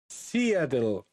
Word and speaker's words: Seattle: Okay, it's pronounced Seattle.